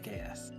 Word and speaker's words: AKS: just say kubernetes service oh you pronounce it AKs just just say AKs got it thank you